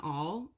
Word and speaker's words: awl: pointy and it's very sharp it's called an awl it's spelled awl they're very handy I'm very glad